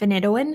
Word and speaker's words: phenytoin: enjoy today's medication is called phenytoin i've also heard it pronounced phenitoin it's brand name is